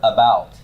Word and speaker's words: about: about this right UT where's the stress on that word first or second syllable it's the second so how do you